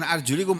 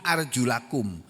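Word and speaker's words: أرجلَكم: Padahal bunyin ayatnya bukan arjulikum. Arjulakum.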